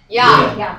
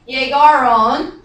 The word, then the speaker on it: llegaron: It starts with the double what? L. And we pronounce it Llegaron. Llegaron.